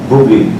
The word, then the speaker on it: Booblee: Booblee. And I can... How do you say it? Booblee.